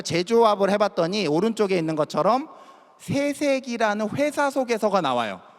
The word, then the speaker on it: 세세기: 인덱스 화면을 자체를 저희가 재조합을 해봤더니 오른쪽에 있는 것처럼 세세기라는 회사 소개서가 나와요. 세세기, 약간 된소리 발음을 하게 되면 욕처럼 들릴 수도 있기 때문에 세세기라는 표현이 나왔는데, 실제로 요거는 어떤 표현이냐면, 우리가 보통 4차 산업혁명이라는 표현 많이 쓰죠.